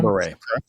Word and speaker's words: Guillain-Barré: Guillain-Barré. Guillain-Barré? Guillain-Barré. Guillain-Barré. I was way off. French name. French name.